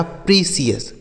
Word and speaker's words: precious: उसके बाद PRECIOUS, तो इसे पढ़ा जाएगा प्रीसियस।